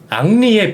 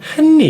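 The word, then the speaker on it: Henry: 그 히읗 소리가 무음입니다 프랑스에서는 h 발음을 하지 않고요 그래서 en R 요것만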